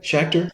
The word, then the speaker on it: Schacter: Am I saying your last name right, Shakar?